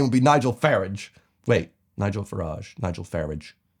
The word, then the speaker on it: Farage: This is Nigel Farage, whose name rhymes with garage. Unless you're British, and then his name would be Nigel Farage.